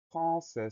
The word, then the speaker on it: français: Première syllabe, franc, F-R-A-N. Le son en s'écrit à N. Deuxième syllabe, c'est. Le son S va s'écrire avec un C, c'est dit. Le son E va s'écrire AI. Et à la fin de français, on a la lettre muette, le S, qu'on va